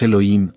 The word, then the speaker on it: Elohim: compuesta de uno formado por otro somos los Elohim se pronuncia Elohim que forman yo de B se